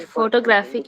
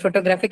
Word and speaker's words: photographic: In photographic, the stress is on the word graph. I mean, the syllable graph. Third syllable is stressed.